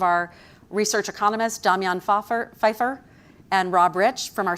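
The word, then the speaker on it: Pfajfar: Um, it's going to be hosted by two of our research economists, Damian Faer, Feifer and Rob Rich from our Center for Inflation Research. Um, I always mispronounced Damian's last name, but Feifer, like Michelle Fefeifer is apparently how it's pronounced.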